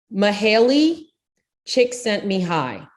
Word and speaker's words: Mihaly Csikszentmihalyi: His name, which if you try to read that without, the phonetic pronunciation underneath it, it's pronounced Mihaly Csikszentmihalyi, and which is really impressive when you don't have that showing.